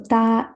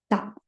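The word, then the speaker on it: た: So only thing, the pronunciation should be with the T. Tsunami. Right? So ta, chi, tsu, te, to.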